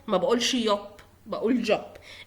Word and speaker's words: Job: احنا كلنا عارفين ان اليوت ان الحرف ده بيتقرا ي تمام. ولكن انا بقولها job عادي زي في الانجليش. ليه؟ عشان هي الكلمة متاخدة من اللغة الانجليزية، فاحنا بننطقها job عادي.